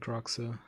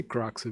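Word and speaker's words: Kroxa: I say Croxa because it's similar to how I say it in Portuguese, but whatever.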